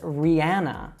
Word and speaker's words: Rihanna: All right, so she would say her own name as Rihanna. Now, you'll find a lot of Americans that also mispronounce this by saying Rihanna.